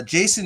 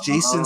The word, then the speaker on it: Jacen: relation to Jason uh his name is spelled a certain way too it's spelled j-a-c-e-n and if you guys have read Star Wars books that is a reference to one of the twins of the solo Clan so I think it's Jason solo and he was